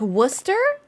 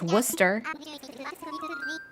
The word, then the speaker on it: Worcester: Like Worcester is spelled Worcester, and you would never think it's Worcester.